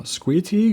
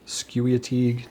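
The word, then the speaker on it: Squeteague: A Gu U E Now, Squitig, is that how it's pronounced? Skewatig? No, I don't think so. I think it's squeig. If I'm wrong, let me know, but I believe that's how it is.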